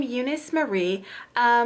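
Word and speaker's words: Euniyce Mari: off Who am I I am Eunice Murray same name here on this channel but it is spelt a little bit differently it is both EU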